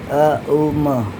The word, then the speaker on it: ओम: की बात करते हैं तब आपको अ उ म अ बड़ा उ बड़ा देर तक और उसके बाद म जरा थोड़ी देर आपको इस तरीके से बोलना है।